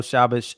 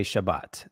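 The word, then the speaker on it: שבת: And for those who may not know, Shabbos is another way that we would say Shabbat.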